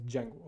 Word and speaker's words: Django: Uh there's a D before it. Okay. So that's a Django but it's it's pronounced at as Django.